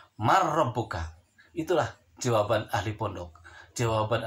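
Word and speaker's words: مَنْ رَبُّكَ: Dibacanya harus jelas, tidak berdengung. Tulisannya adalah man rabbuka, dibacanya adalah harus man rabbuka.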